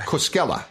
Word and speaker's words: Koskela: So our guest today on the Borderless Podcast is Koskela. Am I pronouncing that right? Yes, you are. Koskela.